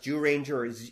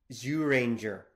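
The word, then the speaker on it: Zyuranger: I should point out it can be pronounced Jew Rangers it should technically be Zoo Ranger like there's actually there's a weird sound there that we're kind of skipping around so anyway regardless so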